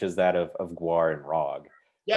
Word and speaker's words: Rawg: So GWAR, there's a band intimately connected to GWAR but distinct from GWAR called RAWG, which is, in case you can't tell from the pronunciations, GWAR spelled backwards.